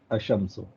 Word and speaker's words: الشمس: آ آف ال، ہاں اب ایک شمسیہ ورڈ میں ایل سائلنٹ ہے، اشمسو، ہاں سپوز شمسیہ ورڈ